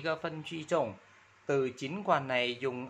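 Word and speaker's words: 尽管: chín quản, chín quản, đọc là chín quản, chín. Chín là thân ba nhưng mà quản là thân ba nên mình đọc là chín quản thân hai ba.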